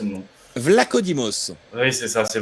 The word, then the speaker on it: Vlachodimos: Enfin, une belle confrontation en dehors de ça, le gardien de Benfica, dont je n'arrive jamais à prononcer le nom. Vlachodimos. Oui, c'est ça, c'est Vlachodimos, mais ça m'échappe toujours.